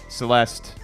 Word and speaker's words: Celeste: Before we go into that, Bre, would you recommend Celeste, which rhymes with a word that they talk about in Seinfeld?